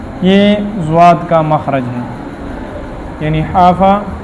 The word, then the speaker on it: ضاد: کا خاص خیال ہوگا۔ تو ضاد، ایک تو لفظ ضاد تلفظ ہے ضاد ضاد، از از از فضرب فضرب، آپ ضاد پڑھیں ضاد ضاد۔ اب دیکھیں ضاد، یہ حافظ لسان اوپر کی طرف، تھوڑا سا مشکل ہے لیکن محنت سے آسان ہو جاتا